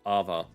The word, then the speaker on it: AWE: His name is spelled AWE, but it's pronounced Ava.